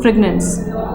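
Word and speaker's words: fragrance: Fragment तो आपके parts हो जाएंगे, आप इसको फ्रेगनेंस ही प्रोनाउंस करो, फ्रेगनेंस, ठीक है।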